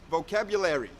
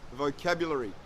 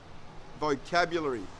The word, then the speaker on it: vocabulary: with the British pronunciation they for some reason pronounce vocabulary with the American pronunciation which is vocabulary vocabulary but this is incorrect